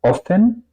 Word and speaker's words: offen: Y al contrario, offen, pues eso es obviamente, otra vez tenemos un doble consonante.